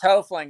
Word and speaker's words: Hoefling: It's Hoefling. It's a long O.